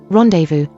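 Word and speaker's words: rendezvous: what are the other examples of a silent Zed rendevu and Silent M pneumonic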